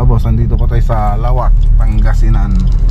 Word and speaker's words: Laoac: nandito po tayo sa lawak pangasinan ay lawak lawak pala yung ta ang kanilang pronunciation dito so balik po tayo